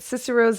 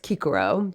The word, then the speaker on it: Cicero: chickpeas so cicero now i'm not going to harp on the fact that the c would be pronounced with the hard k sound but i just think